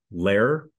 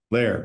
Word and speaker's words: Lohr: Okay, so I said it with an O in there. You said it. It's spelled that way. So phonetically. The only people I've ever had pronounce it correctly the first time are either people that are German, okay, or history teachers for some reason.